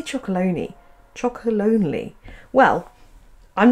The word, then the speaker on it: Chocolonely: me by Tony's chalon is it meant to be pronounced chocolonely I always say chalone chocolonely well I'm not